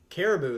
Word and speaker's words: Caribou: Caribou.